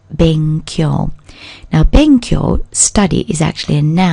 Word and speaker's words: 勉強: Now it's the first character in the pair of characters which mean to study and are pronounced benkyou.